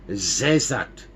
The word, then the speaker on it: Sesat: His wife's name is Sesat, pronounced as Zezat.